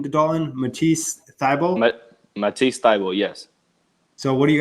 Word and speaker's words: Matisse Thybulle: Matisse Thybulle, yes.